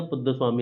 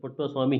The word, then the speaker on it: पुट्टास्वामी: के एस पुट्टास्वामी या पुद्दस्वामी आप इसे बोल सकते हैं, पुट्टास्वामी है वैसे इसका सही प्रोनाउंसिएशन। चलिए, हाल ही में ग्रीन